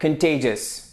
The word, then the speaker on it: contagious: هذه الكلمة تنطق contagious.